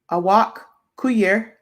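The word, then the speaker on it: Awak Kuier: Awak Kuyer.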